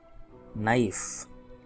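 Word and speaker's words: knife: अंग्रेजी डिक्शनरी में के एन कहीं भी शुरू में आएगा के साइलेंट हो जाएगा, जैसे नॉलेज में के एन, नाइफ के एन के साइलेंट हो गया।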